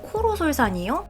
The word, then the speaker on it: 코로솔산: 코로솔산이요? 뭔가 단어가 어렵네요. 코로? 외국 단어라 좀 발음도 힘들고 기억하기도 힘든 것 같아요. 귀로는 아니고 코로죠.